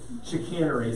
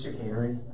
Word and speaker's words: chicanery: list is chicanery anyway it's a long a sound but whatever chicanery sounds like you're putting something in a can as you can see you set your camera it's chicanery all right number 19